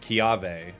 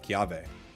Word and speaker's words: Kiawe: It's pronounced Kiave. Oh, okay. Cool. Kiave.